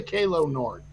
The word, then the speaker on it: Calo Nord: They say Kalo Nord. I didn't mispronounce that. I would say Kalo too.